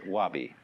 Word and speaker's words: wabi: The first is sabi, and that goes along with something that rhymes with it, wabi.